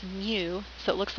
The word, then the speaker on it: mu: of a population uh we pronounce this Greek letter as Mu so it looks like